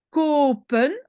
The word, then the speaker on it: kopen: Kopen, oui, j'entends un long O, kopen, mais comme c'est une syllabe ouverte ici, je peux enlever un O.